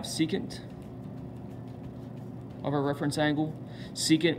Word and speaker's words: secant: of our reference angle secant we spell sec still saying secant this is the reciprocal